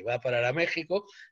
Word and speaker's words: México: medido a méxico porque méxico se escribe con x aunque se pronuncia con